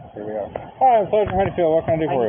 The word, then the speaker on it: Honeyfield: And how you pronounce that? Honeyfield.